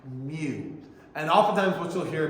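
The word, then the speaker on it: μ: Now, in terms of how it's pronounced, that term is pronounced as mu, mu. Okay? So that coefficient of friction is pronounced mu.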